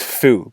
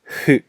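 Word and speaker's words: ふ: the English form is written as foo but the pronunciation is actually more breath ease who but again you don't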